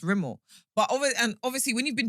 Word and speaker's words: Rimmel: I was like, Rimmel. They were like, no, it's pronounced Rimmel.